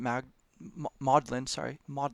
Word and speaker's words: Magdalen: He was a scholar at Magdalen is how it's pronounced, college, a historian.